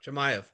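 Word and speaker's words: Chimaev: So yeah, like you know, he was calling out I always say his name wrong, which how do you say his name? Chamay.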